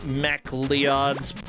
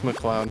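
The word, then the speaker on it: MacLeods: Bobby, Kung Food, Highlander, the last of the Mech Leods for the Jaguar. I don't know what that is. Mech Leods? That's what it says. Mac L-E-O-D-S. How do you pronounce L-E-O-D-S? It's McLeod. McLeods?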